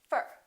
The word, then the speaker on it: for: what happens to four we reduce the oh and it becomes up fer repeat after me for